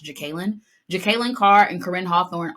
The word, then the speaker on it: Jekalyn: this but Jekalyn Carr I kept saying Jacqueline I think her name is actually pronounced jacalyn Jekalyn Carr and Corrine